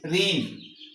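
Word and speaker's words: reign: रीन किसी भी बादशाह का जो दरे हुकूमत होता है उसे हम रीन कहते है। तो यहां पे जी साइलेंट है।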